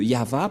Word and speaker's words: Yahvah: au début alors que selon les hébreeux ce terme se prononce y ah et lorsqu'on va le regrouper avec le va ça donne ce que ça donne nous allons écrire en jeune ya Yod et et va V voilà le nom de yava prononcé par le grand père Moché yava donc voilà nous